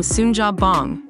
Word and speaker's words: Suunjapbang: The upcoming film Sunja Bong, yeah, that's how you say it, has just dropped some major news.